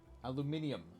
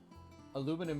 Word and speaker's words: aluminium: come from I mean aluminium is the correct way to say it yeah it's the technical it's the way the whole world says it the how aluminum is spell aluminium aluminum is the way that the US says it yeah I know but